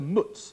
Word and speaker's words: mutz: tassels and a gold badge known as a mutz it's spelled m-u-t-z were sold at auction in August